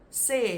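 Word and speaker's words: sê: so let's look at the first word say say is very important because that is the word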